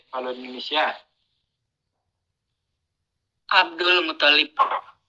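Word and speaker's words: عبد المطلب: Nah, kalau di Indo itu lamnya yang musyaddad kan ya? Iya, Abdul Muttalib. Abdul Muttalib, ya. Gitu kan? Iya, benar. Yang benar itu toknya yang ditasydid. Abdul Muttalib. Ya, jadi toknya yang ditasydid bukan lam.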